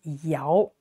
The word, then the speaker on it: Yao: this yeah no not it's Yao second tone yeah so this is